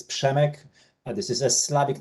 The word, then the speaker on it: Przemek: Pizekmike Kateki from Europe. If you could briefly give us your brief your background? Absolutely, Oliver. Thank you so much. So you're very close. It's Przemek.